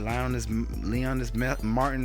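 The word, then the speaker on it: Leonys Martín: All right, Leonis Martin, that's how you pronounce it.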